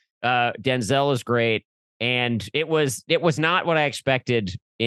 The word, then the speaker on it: Denzel: Did you know that his name is actually pronounced Denzel?